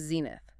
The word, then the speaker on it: zenith: The last one is zenith. Z-E-N-I-T-H. Zine. 2 syllables. Stress on the first.